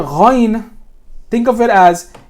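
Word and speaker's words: غين: And the ghain is coming from the same exact spot, not from the middle of your mouth. Ghain, like the word, like the G in ghost.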